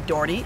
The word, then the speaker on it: Doherty: Silver Creek High School I'm principal Doherty or shorty Daugherty if you need to know how to say my name correctly and a fun fact